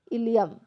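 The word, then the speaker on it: ileum: है तो इसका उत्तर है option number B इलियम इलियम जो है यह छोटी आत में सबसे लंबा भाग होता है य स्पेलिंग गलत है आप इसको इलियम बोल सकते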